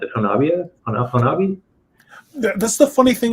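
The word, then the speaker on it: Honobia: That's the funny thing about Oklahoma, is words that look like they would be pronounced a specific way are very different in Oklahoma. The locals actually pronounce that Hanabi.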